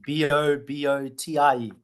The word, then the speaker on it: bobotie: Bobotie, Bobotie. Bobotie. Okay. That's it. It looks like bobotie, but it's pronounced bobotie.